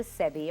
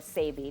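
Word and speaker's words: Sebi: there's a gentleman called dr sebby or sabi depending on how you pronounce it and for years he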